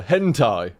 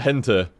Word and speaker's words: hentai: there we go I I'll say it properly for you hentai there we go I always call it hente I don't know why to be fair it